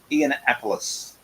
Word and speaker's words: Ianapolis: many weird and wonderful ways but it is pronounced e'en appleís okay just for those people who wasn't quite